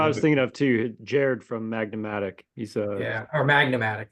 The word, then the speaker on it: Gerd: It's spelled GERD, but it's pronounced Jared. Jared. Yeah, it sounds like Jared when you say it, but yeah, GERD.